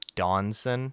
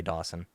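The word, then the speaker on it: Dawnsen: it is stuck with a silent end yeah it just happens to be a silent n in the middle of it so it's a Dawn's and it would just quickly say Dawson yeah Dawson Dawson Dawson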